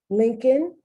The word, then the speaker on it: Lincoln: Would you ever know how to spell Colonel if you didn't know how to spell it? Lincoln, Abraham Lincoln, one of the most famous presidents of the United States.